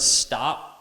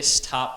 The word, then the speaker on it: stop: English speakers to speak same as in the word stop and store we don't say stop and store you say stop and store so it sounds more like a D I realized this when